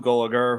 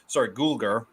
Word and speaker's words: Gulager: Bert, played by Clu Gulager, who I believe Gulger. I always have mispronounced his last name.